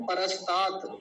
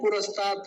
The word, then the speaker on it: परस्तात: और ये शब्द है परस्तात, कुछ लोग बोलते हैं पुरस्तात, पुरस्तात शब्द नहीं है, परस्तात, ठीक है, परस्तात।